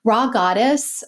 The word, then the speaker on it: Rha Goddess: achieve in this lifetime raw goddess and that's spelled rha goddess recently uh published a